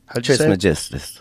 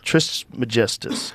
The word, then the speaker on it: Trismegistus: Trismegistus. Trismegistus.